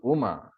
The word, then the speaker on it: Uma: oma when you pronounce Uma there are there are three syllables and when you pronounce omkara also there are three syllables so Uma Devi and